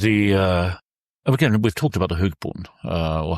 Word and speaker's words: hogboon: But again, we've talked about the Hugboon, or how do you pronounce it again? Hogboy. Hogboon.